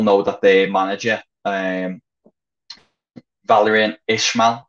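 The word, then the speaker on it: Valérien Ismaël: that their manager um valerian ishmael i think is the pronunciation he's been in charge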